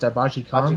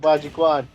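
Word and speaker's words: Bajiquan: What was it pronounced? Baji Kong? Baji-Kwan.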